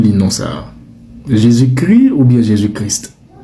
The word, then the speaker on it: Jésus-Christ: Mais quand il est précédé de Jésus, l'Académie française recommande de ne pas prononcer le S et le T. Donc vous ne direz pas Jésus-Christ, mais vous direz Jésuschrist.